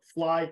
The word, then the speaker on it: Fleye: go buy that book fly design and fly is spelled f-l-e-y-e like I F you know fly um and